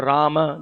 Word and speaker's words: Rama: be used, and then for Rama, the upper and lower lip should be used, right? So we should use the tongue and the lips properly.